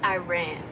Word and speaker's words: Iran: It's pronounced Iran.